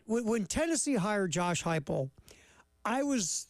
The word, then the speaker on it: Heupel: His last name rhymes with Skyple. Oh, man, Josh Heupel.